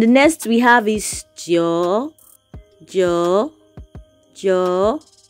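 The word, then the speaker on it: 九: next we have is joe joe joe you see is a is a falling and a rising and this is number nine yeah number nine it has a falling and the rising tone there you have it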